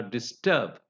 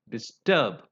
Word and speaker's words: disturb: example disable dispel or disturb disclose so in such words the the words beginning with this prefix this they are stressed on the last syllable you know how I said it is dispel disturb I didn't say disturb